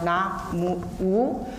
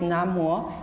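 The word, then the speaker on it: Namo: And Khenpo just mentioned about Na Mo, because in Chinese the characters are Na Mu, but the pronunciation always used is Na Mo.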